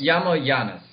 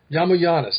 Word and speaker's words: Yiamouyiannis: Is that the correct pronunciation? Yiamouyiannis. Yiamouyiannis, thank you so much.